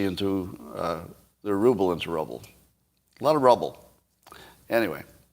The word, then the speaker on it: ruble: russian products with and ruble is mispronounced it's a rubble yeah what are the